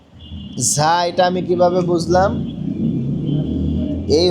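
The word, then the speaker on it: ظ: ঝা ঝা ঝা হরফটা উচ্চারণটা আমরা পরিপূর্ণভাবে সবাই সহি করতে পারি না। জা জা জা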